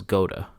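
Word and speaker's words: Goethe: and his name was Goa at least his last name was and you don't pronounce it the way that you spell it like I'm pronouncing it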